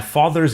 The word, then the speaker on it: father: Notice that the final R sound is not pronounced in British English. Father ends in a simple schwa vowel, like father.